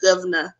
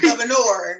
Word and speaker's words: Gov-Na: And you got to say it like that. That's why it's Gov-Na. Not governor. No. It's Gov-Na.